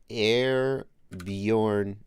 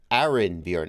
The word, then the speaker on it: Arinbjorn: I thought it was just like a pilot handle, Airborne. Like airborne, but I thought it was just like a play on words.